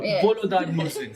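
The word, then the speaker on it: Volodar Murzin: Wait, which correct pronunciation did I watch this time? Was it Volodar? Volodar Mursin.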